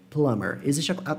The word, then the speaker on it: plumber: Plumber. Acontece casos assim, o que o nosso B vai sumir na pronúncia, e plumber é um exemplo delas.